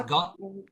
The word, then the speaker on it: guard: pronounce guard or got? Guard. Guard. Guard. Guard. Guard. Yes. Okay. It's like It's like this. Um g g g o g Oh, silent U, right?